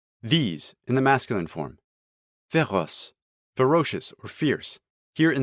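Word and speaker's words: féroces: this is pronounced just ferrous but in the song you actually have to pronounce the ending this is common in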